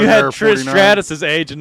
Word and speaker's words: Stratus: Strategias? Strategias. I think that's right. Yeah, It's like that's how it's Stratus.